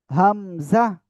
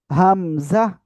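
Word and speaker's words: همزة: হামজা। কোনো টান হবে না এই অক্ষরে। এই অক্ষরে কি বললাম? কোনো টান হবে না কিন্তু। হামজা।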